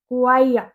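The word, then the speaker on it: choir: चर च इसकी करेक्ट प्रोनंसिएशन होती है क्वाइया।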